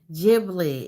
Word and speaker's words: Ghibli: Ghibli is pronounced Studio Ghibli.